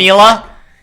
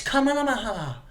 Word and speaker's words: Kamala: Camila? You mean you're saying your fucking name wrong? It's Kamala.